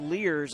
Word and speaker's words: Luehrs: It's Luehrs, but pronounced Lears, I've been told, which is good because I would have said Lures and screwed that up.